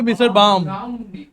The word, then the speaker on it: Baum: Baum. Baum. Brown कहाँ पे, मिस्टर बाम, मिस्टर बाम, L silent है।